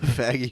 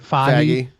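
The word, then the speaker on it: Fage: Well, That woke her up, the faggy yogurt.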